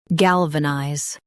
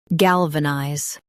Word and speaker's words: galvanize: Galvanize. Now read the syllables shown on the screen naturally. Gal. V. Nize. Galvanize. Emphasize gal and keep vanize smooth.